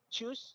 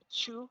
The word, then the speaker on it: choose: So, poster choose some uh you always say chew. Okay. So, you need to emphasize here the s sound.